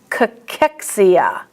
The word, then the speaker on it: cachexia: But most oftentimes, in medical words, the CH is pronounced as a K. Cholesterol, cholera, cholemia, cachexia.